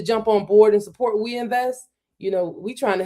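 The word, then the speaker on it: Ouinvest: It's uh We Invest. So, it's spelled We like French, o u i n v e s t dot a i. We Invest dot a i.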